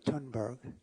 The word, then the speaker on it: Thunberg: Do you pronounce the H in the th, or do you just say Tunberg? What's that? Tunberg, so there's no H.